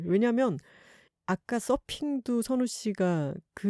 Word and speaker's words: 선우: 근데 선우 씨는 선우잖아요. 네, W 발음이 좀 어렵죠. 네, 그래서 어떻게 발음을 하셨었죠? 순이.